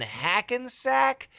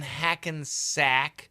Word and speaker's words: Hackensack: So he says, a heart attack. Who needs a house out in Hackensack? So that heart attack, ack, and that Hackensack, those are short A's.